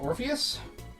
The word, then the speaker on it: Orpheus: Alright, so our next one comes from, I believe it's pronounced Orpheus?